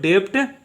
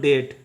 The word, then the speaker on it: debt: बी जो होता है वो साइलेंट होता है, ठीक है। 80-90% वर्ड में बी साइलेंट होगा, ठीक है। तो इसको डेप्ट नहीं उच्चारण करेंगे, इसका उच्चारण करेंगे हम लोग डेट, इसका उच्चारण करेंगे डेट,